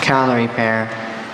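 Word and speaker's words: Callery pear: Calorie pear. Are there any alternate pronunciations?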